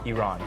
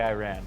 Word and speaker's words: Iran: run to I'm like it's simple the letter e everyone can say and then the person's name wrong put them together quickly Iran Iran very simple hopefully